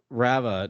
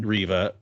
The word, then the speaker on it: Reva: It's just weird because we know that Rava now knows that It's Reva, everyone. Reva. We've used 3 different pronunciations tonight.